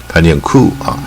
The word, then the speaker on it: coup: 念 Ku，它不念 Ko，它念 Ku 但 P 不发音，所以